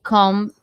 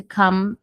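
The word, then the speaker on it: comb: Pentear o cabelo to come the hair. Eu não falo essa letra B. Eu vou fechar a boca no M. To come the hair, tá bom?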